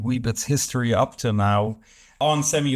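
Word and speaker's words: onsemi: yet commercial deal with on semi is basically how you pronounce it while this is a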